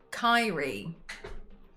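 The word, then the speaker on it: Kairi: Kai rhymes with Tyree. Kyrie.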